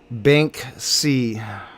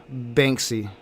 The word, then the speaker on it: Banksy: I do mispronounce it sometimes. I I do add a extra K in there. Bank C. Banksy.